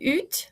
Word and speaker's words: août: And then août, some people pronounce it oot, some people pronounce it u. It's your choice, your preference. I usually say oot.